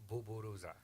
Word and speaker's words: Buburuza: Buburuza.